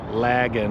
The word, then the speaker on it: Lagan: Lagan, like dragon.